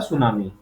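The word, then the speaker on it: tsunami: तो ये होता है सुनामी, स्पेलिंग इसकी टी से शुरू होती है।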